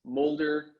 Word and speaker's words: Mulder: just Google my name, Mulder, like Fox Mulder, X-Files for all you sci-fi freaks. So that's Molder.